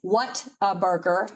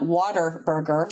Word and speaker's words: Whataburger: And it's what a burger, not water burger, which I thought it was at first when I first moved here.